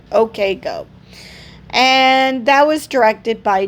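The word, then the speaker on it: OK Go: I doubt you pronounce use I'm pretty sure you spell that out. Okay Go.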